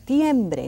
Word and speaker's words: septiembre: Septiembre. Now let's pause here a little bit so I can explain you something. Septiembre. See that P? It is pronounced slightly.